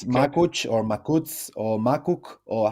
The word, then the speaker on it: Makuc: the Balon guys normally it's with the CH at the end so it's makuch but I prefer makut makut if it's possible if